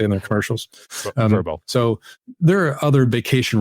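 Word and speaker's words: Vrbo: it yeah right yeah I think they say it as verbo it just sounds dumb but I guess I should say it since that's what they say in their commercials verbo so there are other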